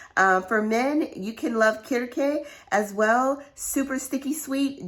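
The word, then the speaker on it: Kirké: k woo kit uh some people pronounce it kirk but there's an accent mark on here so we're gonna say uh so um i'm gonna say kirke and this is a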